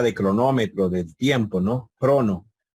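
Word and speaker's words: χρόνῳ: Se dan cuenta que no se pronuncia. En alguna época, en algún estadio anterior a la coine bíblica, posiblemente lo pronunciaban y decían cronoi, cronoi, pero hoy en día no, se dice crono.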